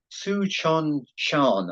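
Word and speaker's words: Tsuchinshan: Comet Tsuchon-Shan, I think is how you pronounce it, -Atlas.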